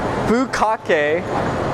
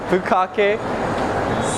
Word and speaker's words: Bukkake: I mentioned it in some of my other videos, but it's called Bukake, and it's pronounced exactly the way that I'm saying it, Bukkake Seimen, not semen, but Seimen, like S-E-I men.